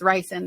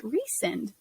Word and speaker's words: Rysand: But throughout the entire series, I was like, that's Rysand, that's Rysand. And then in the audiobook, they said, no, it's Rysand. And I was like, oh, that kind of makes more sense.